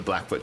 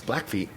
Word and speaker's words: Blackfeet: i'm saying it wrong is it always feet or is it black foot it's black foot i don't know but it's black feet it's called the black feet tribe is it yeah